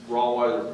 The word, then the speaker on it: Rawweiser: It's Rawweiser pronounced like Bloodweiser, in case anybody has trouble with that.